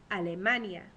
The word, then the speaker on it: Alemania: top we have Germany Germany pronounced in Spanish is Alania the German language and Al underneath Germany underneath alemania we have France in